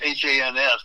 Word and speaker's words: Hans: It's H-A-N-S, but it rhymes with chance.